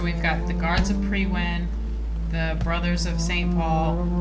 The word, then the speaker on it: Priwen: Priwen, I've been saying it correctly.